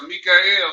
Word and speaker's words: Michael: And at that time shall Mikael stand up, that great prince which standeth for the children of thy people. That's how you say his name in Hebrew. That's how you say Michael.